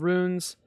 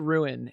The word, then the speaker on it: rune: the word Ru as I pronounce it ruin and that is wrong so for those who don't know it's Rune and I've been saying ruin my entire life but pillow donated $10 and now I need to say rune um so I am